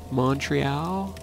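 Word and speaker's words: Montréal: That's right, when you're French, you don't pronounce the T. Montreal or Montreal?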